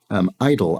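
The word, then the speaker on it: idyl: She says, idle, I-D-Y-L, is pronounced the same as idle, I-D-L-E.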